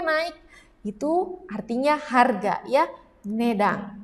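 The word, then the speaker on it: 値段: itu artinya harga ya nedang dibacanya kanci ini ne ya tadi kan sudah belajar yang ini bacanya dang nedang selanjutnya wah apa ini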